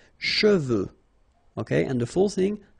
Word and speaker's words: cheveux: Usually this one is a bit of a problem because some of the students normally pronounce it chevaux, okay? So try to keep in mind that you get E-U here. So it goes like okay, and then final X not pronounced, sorry, final X, should pronounce it the French way. Final X is not pronounced. So you get che, and then you get the, okay, cheveux, okay, and the full